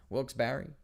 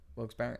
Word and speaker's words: Wilkes-Barre: know how it's pronounced i used to say wilkes bar and then people from there were like it's wilkes-barre and i'm like really